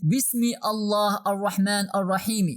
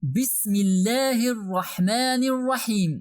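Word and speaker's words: بسم الله الرحمن الرحيم: We don't read Bismi Allah Ar-Rahman Ar-Rahimi, but we read Bismillahir Rahmanir Rahim. Even the kasra in the last letter of the verse should turn to a sukun.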